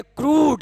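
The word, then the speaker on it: crude: कह रहा है कि जब किसी वर्ड के बीच में यू हो और यू के ठीक पहले आर हो तो यू का उच्चारण उ में देते हैं।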